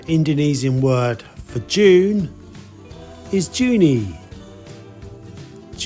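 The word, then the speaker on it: Juni: month of May is may may may it's pronounced very similar but the spelling is different the Indonesian word for June is juny juny juny obviously there's a difference there with the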